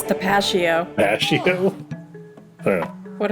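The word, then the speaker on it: Tapatío: What if it's Tapatio? Pashio? I don't know. What if it's Is Pistachio. that Tapatio? how you pronounce the hot sauce? Pashio? Don't judge me! It's Tapatio.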